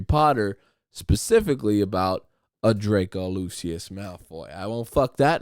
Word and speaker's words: Lucius Malfoy: to fucking Harry Potter, specifically about a Draco Lucius Malfoy.